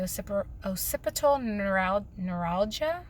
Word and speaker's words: occipital neuralgia: pretty bad I've been really suffering with the occipital neuralgia that's how you pronounce it in my neck which causes headaches